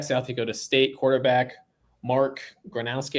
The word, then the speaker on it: Gronowski: Dakota State quarterback, Mark Gronowski. I always want to say Gronkowski, so I have to look at his name when I pronounce it. Mark Gronowski, not comparing him to